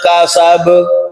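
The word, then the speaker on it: كسب: Kemudian kesalahan yang berikutnya adalah tidak memantulkan atau mengkolkolkan huruf ba pada kata kasab. Ya. Jadi dibacanya ma'auna anhum waluhu wa ma kasab. Biar bacanya ma'auna anhum waluhu wa ma kasab. Nah, kalau kasab itu jadi huruf P. Ya, makanya kalau huruf P itu kalau bahasa Arab ditulis pakai tulisan Arab pagannya B. Ya.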